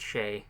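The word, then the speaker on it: Shai: Duchess Christ shy Shea it's pronounced Shea well I like to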